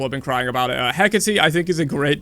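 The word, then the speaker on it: Hecate: next up we have heate which I'll throw to a0 I think her rework design or should I say hecy I've been saying it wrong people have been crying about it hecky I think is a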